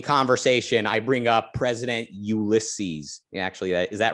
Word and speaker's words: Ulysses: reading and discussing oh you want me to pronounce this ulysses ulysses is it ulysses u l y s s e s ulysses